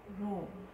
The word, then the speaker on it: rho: Rho. Rho, Rho. And it looks like an English P, but it is not P, okay?